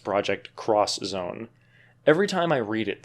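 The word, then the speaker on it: Project X Zone: am haunted by the fact that it is pronounced project cross Zone every time I read it there's a voice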